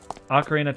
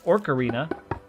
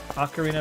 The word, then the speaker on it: Ocarina: as a side note I used to pronounce as orc Arena until about a year ago when I finally noticed there was not an r in the title of that game um I don't know